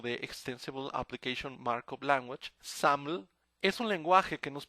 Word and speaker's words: XAML: SAML, como se pronuncia en inglés, el acrónimo de Extensible Application Markup Language, SAML es un lenguaje que